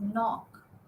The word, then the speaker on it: knock: K is silent. And then you have knob, you have no, you have knock, you have knife, right?